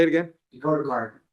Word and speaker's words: Cardinal: Is it Cardina? Am I saying it right? Cardinal. Say it again. Dakota Cardinal. Cardinal, like the bird.